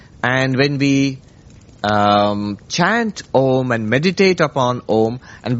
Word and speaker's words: Om: What happens is in Sanskrit grammar when you put an a and an oo next to it it joins and it becomes o.